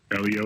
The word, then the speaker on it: Elio: Is it Elio? Elio is absolutely correct.